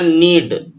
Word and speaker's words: knead: Friends, इसके लिए एक वर्ड होता है नीड, KNEAD। के यहाँ पे साइलेंट रहता है, इसको नीड पढ़ा जाता है।